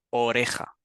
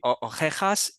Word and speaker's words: oreja: Y si te fijas, van a pronunciar las dos palabras, si lo pronuncian mal, van a sonar igual, van a decir Sí. ojejas y ojejas.